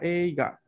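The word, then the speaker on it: 映画: representar una E larga, como por ejemplo la palabra eiga. Aquí sí vamos a leer EI.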